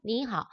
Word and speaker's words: 你好: 이때 삼성. 표기는 삼성이지만 삼성이 왔을 때 앞에 있는 거 이성으로 올라가는 부분만 발음해 줍니다. 니하오 라고 발음되는 거 기억해 주세요.